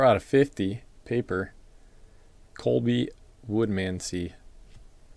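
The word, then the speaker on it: Woodmansee: 34 out of 50, paper, Colby Woodmansey. Pronounce it like it reads.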